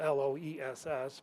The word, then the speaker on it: loess: It's uh spelled l o e s s, but it's pronounced loess. Uh would have suffocated and buried most mammoths, some of them standing up. So, lurs um is a German word that is basically